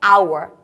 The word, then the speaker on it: hour: make that sound do we say power no it's our and aa is a wall sound therefore we have to